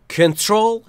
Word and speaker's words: control: Control yourself. Control yourself. دقت داشته باشید بچه‌ها، نکته تلفظی در کنترل استرسش روی تیه و کنترل درسته، کنترل نیست.